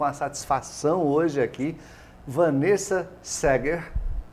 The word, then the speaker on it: Saeger: satisfação hoje aqui Vanessa Seger. Tá vendo que o escritinho é diferente, mas a pronúncia é essa.